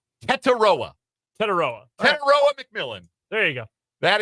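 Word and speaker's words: Tetairoa: Pronunciations. Teteroa.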